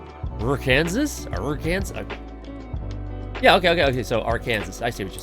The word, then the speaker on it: Arkansas: They're like Kansas, but with an R. Oh, not just R. Arkansas? Arkansas? Yeah, okay. So Arkansas.